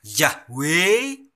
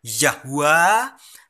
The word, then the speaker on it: Yahweh: Ada yang membacanya Yahweh, ada yang membacanya Yahwa, ada yang membacanya Yehova. Itulah Allah yang dikabarkan oleh Rasul Paulus.